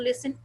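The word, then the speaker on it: listen: तो you have to लिसन each word attentively, बहुत attention के साथ इस वर्ड को कैसे पढ़ा है। लिसन, लिसन। अब इस वर्ड को, एक सिंपल वर्ड है लिसन, इसमें टी साइलेंट है, राइट।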